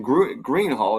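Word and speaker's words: Gruene Hall: So this is actually in Green Hall. It's spelled Grune Hall, which is green in German.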